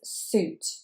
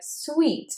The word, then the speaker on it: suit: And many speakers of English as a second language will want to say this word sweet or sweet. But in fact, it is suit.